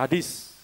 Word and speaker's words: Hades: Atau Hades orang baca. Saya bacanya niru Yunani. Hades atau Hadis, alam kematian, alam maut.